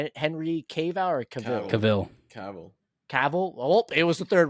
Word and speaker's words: Cavill: I always say his name wrong. What's freaking Superman, the actor? It's Henry Cavill or Cavill? Cavill.